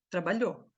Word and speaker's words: trabalhou: pronúncia aqui quero queijo ele trabalhou Cadê esse o esse U aqui na fala não tem trabalhou certo na fala você